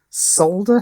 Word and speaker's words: solder: Yeah, he said that solder has a silent L. Solder has a silent L. No, it absolutely does not. Solder has an L which you pronounce.